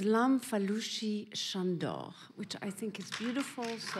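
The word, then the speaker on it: Lamfalussy Sándor: wanted to please him you should say his name in Hungarian which is LAM fushi shandor which I think is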